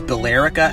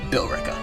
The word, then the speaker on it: Billerica: three we got billerica some of you out there will say this is balerica and i'm to that i say no billerica number two and the